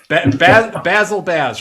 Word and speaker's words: Bazzel Baz: name it's a dyslexic part in my brain basil baz right you can you can pronounce it that way you can pronounce it